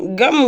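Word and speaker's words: गं: सर्वप्रथम गण के आदि वर्ण गा का और उच्चारण करें। उसके बाद सभी वर्णों के आदि वर्ण आ का उच्चारण करें। उसके बाद अनुस्वार उच्चारित होता है। उसके बाद इस प्रकार अर्धचंद्र से सुशोभित गा गम उकार से अवरुद्ध होने पर तुम्हारे बीज मंत्र का स्वरूप ओम गम है।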